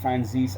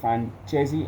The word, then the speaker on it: Franzese: I know it's pronounced Franzese. I don't give a fuck if it's pronounced Franzese. I don't give a shit. I pronounce it Francesi, and in any case, it doesn't matter.